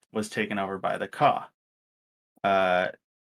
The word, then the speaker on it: Kajh: And this region was taken over by the Ka, uh, which that's spelled Kajh. Um, for those curious, but Ka also works.